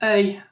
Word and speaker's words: œil: is not the best and easy word, but it's spelled O-E-I-L. It's œil for eye.